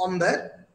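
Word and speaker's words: ombre: It means man, pronounced as Umber.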